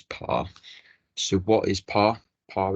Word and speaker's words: PARE: use a dummy account on par or PIR depending on how you like to pronounce it for the purposes of this guide I will pronounce it as par so what is par